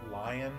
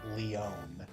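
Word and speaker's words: Lyon: I've always pronounced this lion but I I learned the other day through hearing it in Heroes it's pronounced Leon oh I don't like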